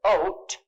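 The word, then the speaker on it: אות: It's the word ot. It's spelled aleph, vav, tav.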